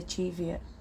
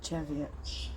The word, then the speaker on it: Cheviot: Look, I'm starting to say cheviot because that's how they say it. It's not cheviot. Even though it's spelt cheviot, I can see it being called cheviot if it had an I next to the E, or another E, or an A, you know, but no.